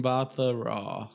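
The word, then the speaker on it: Mbatha-Raw: Mbatha Raw.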